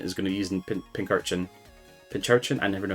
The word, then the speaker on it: Pincurchin: Pincurchin? I never know how to pronounce it.